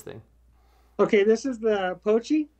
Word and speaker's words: Pochi: Okay, this is the Pochi. Pochi.